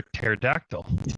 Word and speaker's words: pterodactyl: Tea is for pterodactyl.